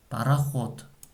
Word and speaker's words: пароход: Пароход. Ударение на букве О. Пароход. Когда мы произносим это слово, она слышится как буква Т.